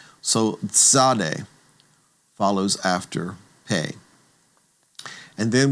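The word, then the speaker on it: tsadi: The next letter is called zade. Zade. And you should recall that zade is one of those unique sounds because it's a ts that's blended together or a tz that's blended together.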